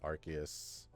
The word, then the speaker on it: Arceus: Although Arceus, or if you want the correct way to say it, Arceus.